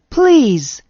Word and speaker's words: please: give me some examples his and is are examples of my z sound at the end of a word please and misery are examples